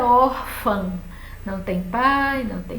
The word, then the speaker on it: órfã: em cima do ar ele vai fazer qualquer a força venha para a última sílaba e aí você vai ter que dizer órfã como irmã que termina do mesmo jeito a palavra irmã termina com e a palavra órfã com a e um tio mas só que irmã é oxítona não mas órfã é paroxítona ó a sílaba tônica